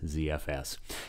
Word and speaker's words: ZFS: well start with ZFS my natural inclination of course is to pronounce it like Zed but you may you